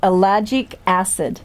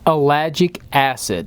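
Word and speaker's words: ellagic acid: I could say it we have looked up how to say it it is called alagic acid alagic acid alagic acid I think we got it e l l a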